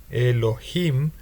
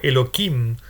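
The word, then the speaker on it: אלהים: nombre de dios elohim se pronuncia así elohim pero la tradición sugiere pronunciarlo elokim para no repetir demasiado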